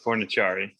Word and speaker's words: Fornicari: My understanding is it's Sicilian, and the C is said like a CH, so Fornicari.